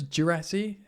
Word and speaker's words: Guirassy: Apparently it's Guirassy, how you pronounce it.